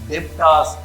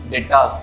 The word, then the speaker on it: debtors: And I see some of the students pronounce this word as debtors. It should not be like that. B should be silent and it should be pronounced sundry debtors.